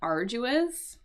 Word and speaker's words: arduous: Because it doesn't, it's not obvious from reading here, but there is this sort of a soft G sound here.